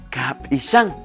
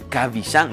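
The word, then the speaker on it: Kab'ixan: Así como lo oyen. Kapishan. No se vayan a confundir. Muchos la B glotalizada la dicen Kavishan. No es Kavishan, es Kapishan, como aparece en pantalla.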